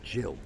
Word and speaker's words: Gill: dad Paul and Gill well Jill spelled with a G isn't it so it's chill but everyone wants to say Gill we haven't met them